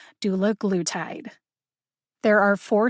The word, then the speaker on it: dulaglutide: dr elena alexander say she thought it was pronounced dullagletide as pharmacists do we know what she's talking about if she pronounces it that way yes i believe so anyway she said that the pronunciation given to her by eli lilly was doula glutide how do we